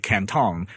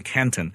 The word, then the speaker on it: Canton: canton right or i as i would prefer to pronounce it canton because it was a you know a chinese city guangzhou but at the time